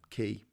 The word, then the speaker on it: cay: c a y y like k but it's pronounced key uh that that comes